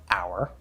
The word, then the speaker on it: hour: Now note that sometimes you will see the letter H and it's silent. It's just spelling, like in the word hour, or in the American pronunciation of the word herb.